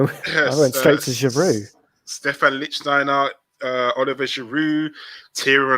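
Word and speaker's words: Stephan: to win number 12 stephen lichtsteiner anyone remember him or stefan bloody hell we got his name wrong well we're going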